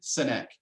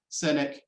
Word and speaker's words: Sinek: this one up uh his name is simon sinek his last name is spelled s-i-n-e-k and he tells a story about a marathon and if you google simon cynic marathon you'll see the video but it's it's